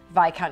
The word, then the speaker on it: viscount: Bridgton decided to make this season all about VI count and VI Counce and getting obviously the pronunciation um letting the world know well maybe